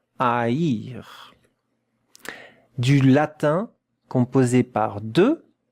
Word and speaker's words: haïr: And look at how to pronounce it, yes, with the double point here, double dot. Haïr. Haïr.